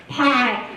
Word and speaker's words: PI: Greg Cruz is the owner of PI Property Inspections. Do you pronounce that PI or PI? PI.